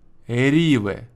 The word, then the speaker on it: REVE: принимается написано следующее фиф Риве ударение на и фиф Риве то есть не Риве Да нефф Риве Риве